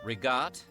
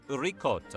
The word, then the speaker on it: ricotta: Take, for example, rigat for ricotta.